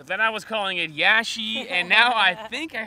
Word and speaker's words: Iași: in a place i think called yash now we've been here for like four hours and i originally was calling it lassie then i realized there's an accent on the s so it's probably lashy then we were just talking to some locals and they informed me that it's in fact a capital i not a lowercase l so then i